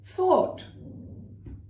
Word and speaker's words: thought: And then thought, which rhymes with bought or caught.